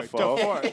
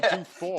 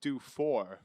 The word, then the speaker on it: Dufour: William Defoe. No, Dufour. Dude, I knew that name was. Yeah, no, it's Du. Yeah, you got me. William Dufour. That's how you say it, I guess.